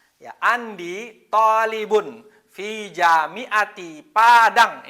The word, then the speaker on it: Padang: Ya, Andi thalibun fi jami'ati Padang. Ini walaupun tulisannya Badang tapi membacanya tetap Padang.